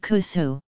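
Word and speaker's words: kūsū: more it is called kusu this pronunciation is unique to a woman in Okinawa elsewhere in Japan the word is pronounced Koshu and refers to aged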